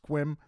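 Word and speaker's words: Sequim: even though things in squim I know I've gotten corrected for saying that wrong I used to say it squim but I believe you don't pronounce the E it's just squim uh weren't always peachy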